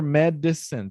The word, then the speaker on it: medicine: So, and just remember medicine, 3 syllables. Medicine. Medicine. No, medicine é 2 sílabas, precisa mais uma.